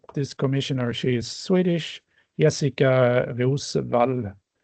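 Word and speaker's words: Jessika Roswall: And for Swedish people, there is an extra bonus, is that this commissioner, she is Swedish, Jessica Rosvall, as the name is pronounced in Swedish.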